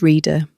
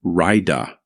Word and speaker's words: Rita: The names should have been pronounced as Atama and Kaze. In some generations, she would even say her own name as Raida.